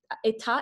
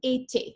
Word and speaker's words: été: The pronunciation of été should have, you said état, it's été, okay? I-E-T, été.